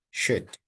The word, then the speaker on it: should: Eliminate the L sound. Could would should.